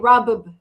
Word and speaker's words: Robb: I was gonna say it's more like Rob. No, the last B. The last B is silent.